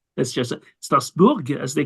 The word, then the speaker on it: Strasbourg: as we say in German Strasburg in French pronounce it differently it's part of France yes is a part of France of course stasbor that's just stasbor as they call it in French and in German Strasburg as I mentioned and they have a very